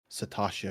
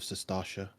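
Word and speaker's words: Sastasha: like saying Satasha instead of Sestasha.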